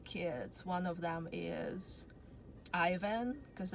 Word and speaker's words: Ivan: One of them is Ivan, because I really like Russian name Ivan, which is in America usually pronounced as Ivan.